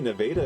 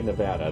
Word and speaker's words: Nevada: nearby as well and actually Nevada is in Missouri and you have to pronounce it that way you can't say Nevada they won't let you all right we have